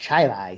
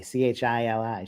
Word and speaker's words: Chili: lives in Rochester but it's pronounced chili c-h-i-l-i chili there's Athens not Athens